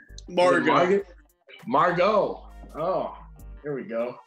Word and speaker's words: Margot: is her name margaret martin how do you pronounce your name morgan margot oh here we go silent t i'm pretty